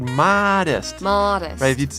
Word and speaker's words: modest: this anyway this word modest if you proud that a North American pronunciation Canada the United States you say get an open your mouth very big modest it's important to be